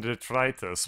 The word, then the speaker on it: detritus: Detritus and detritus. Oh. One is Latin, it, and one is right. It is detritus.